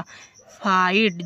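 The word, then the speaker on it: fight: हाई जैसे कि साई जी एच है लास्ट में इसलिए साइलेंट कर दिया साई मींस आह फाइट देखो जी एच टी है लास्ट में तो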